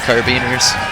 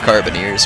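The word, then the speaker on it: carabiniers: have uh uh carabin carabiners carabiners sorry or carbineers probably better way to say it and um carbineers sorry keep saying it wrong anyway carbineers and then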